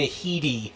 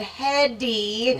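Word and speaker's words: Headey: have to admit that i learned how to pronounce her name today now granted i would have said hedy right i didn't hear the lee parts so but yeah i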